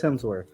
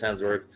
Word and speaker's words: Hemsworth: said Dennis no I didn't I said Chris hensworth what that' be really weird both r d